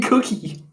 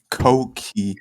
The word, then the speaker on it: cokey: You're saying cookie. Cokey. Like Coke, like in Coca-Cola.